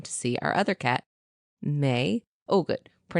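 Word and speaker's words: Mei: So I looked down to see our other cat, May. Oh, good. It's spelled M-E-I, but pronounced M-A-Y.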